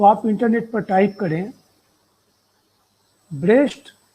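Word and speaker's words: Brecht: और आप अगर इसको पढ़ना चाहें विस्तार से, तो आप इंटरनेट पर टाइप करें ब्रेस्ट अगेंस्ट लुकाच या ब्रेख्ट अगेंस्ट लुकाच, ये उच्चारण में थोड़ा सा फर्क है।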